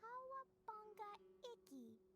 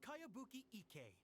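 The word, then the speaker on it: Kayabuki Ikkei: By Kawabunga Iki. That's a really strange name. Who's this Kawabunga? It's pronounced Kayabuki Ike.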